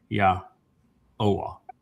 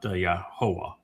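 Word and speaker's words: Yahuah: So it's Yah-Oah, not Yahovah.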